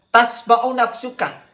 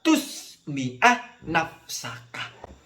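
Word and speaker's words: تُسْمِعَ نَفْسَكَ: Tasma'u nafsukah. Jadi failnya itu nafsukah ya. Diri kamu mendengar. Seharusnya itu dibacanya hatta tusmi'ah nafsaka.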